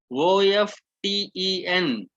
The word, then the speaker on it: often: this particular silent alphabet, OFTEN, often. Right, in Indian English OFTEN we pronounce that as often. All right, so what is silent? T is silent, but sometimes there are people who say it like often.